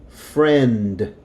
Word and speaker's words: friend: Okay, before we do number 7, I want to reiterate that this right here, when this is by itself, you hear the D, friend.